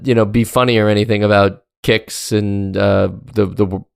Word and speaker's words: Qix: And so rather than be funny or anything about Kicks and the name there, I think it's just worth mentioning that it was called Kicks because the husband-wife duo that made the game,